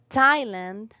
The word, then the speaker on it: Thailand: We have some exceptions here that words that even though are spelled with the th sounds like the t sound. For example, Thomas, Thailand, and Teresa.